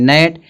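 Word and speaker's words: gnat: तो जब एन से पहले जी आएगा तो जी साइलेंट होगा। इसको पढ़ेंगे नेट।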